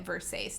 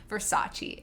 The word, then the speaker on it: Versace: to say it so she goes around pronouncing it verse ace instead of versace and i remember at